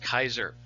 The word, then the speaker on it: Caesar: in caesar his name his last name family name was actually pronounced kaiser so generally in latin